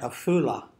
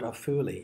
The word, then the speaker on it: Afuli: So they write Afula in Arabic, not Afuli, even though Afuli is the Arabic name for it.